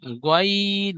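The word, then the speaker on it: غين: তারপরে গাইন গাইন হবে না জি, গাইন নয়, গয়িন। গ। মুখ লাম মুখ উচ্চারণ করবার সময় ঠোঁট দুটি গোল হবে, গয়িন।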